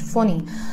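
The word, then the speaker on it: Fani: Ampan is written A-M-P-H-A-N but is pronounced Ampan, just like cyclone Phoni was written F-A-N-I but is pronounced Phoni.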